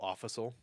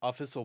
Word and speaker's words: official: in uh in elementary school I used to pronounce official offical oh yeah e and uh ND called me